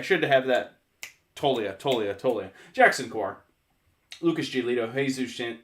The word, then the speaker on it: Toglia: three years it's Michael I say toglia you don't even pronounce the G Michael tolia Talia and I was waiting